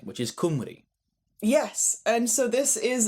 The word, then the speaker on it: Cymru: land and the population, they're spelt slightly differently, but they're both pronounced Cymru.